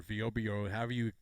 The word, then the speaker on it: Vrbo: If you're going to make a vacation trip to Orlando, go on to Vrbo or VOBO, however you want to pronounce it. I think it's Vrbo, but you go on there, you find something at Champions Gate.